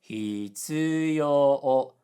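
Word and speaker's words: 必要: For example, necessity, hitsuyo, low high high high.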